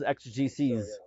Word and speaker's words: exegeses: Oh, by the way, the plural is exegeses, in case anyone's wondering, if you ever want to say it.